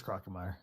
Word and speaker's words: Crocomire: I found Crocomire first. Is it Crocomere? I always said Crocomire. I always pronounce it Crocomire. It is Crocomire.